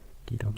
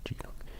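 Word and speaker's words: Geelong: Gilong, not Gilong.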